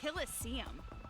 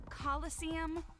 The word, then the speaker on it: coliseum: it right there's no such thing as a killer seam what well he named it the it's pronounced coliseum which is an amphitheater made in ancient rome